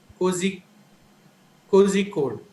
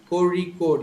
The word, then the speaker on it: Kozhikode: Most of them who are not aware of this sound will pronounce it as Kozi Kozhikode. So, but actually the sound is a ra. Kori code. You're supposed to say Kori code.